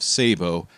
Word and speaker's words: sabot: So, I'm not alone in my pronunciation of Sabo. In fact, we can't say it's an American pronunciation because I pretty sure I heard some interesting accents in those examples.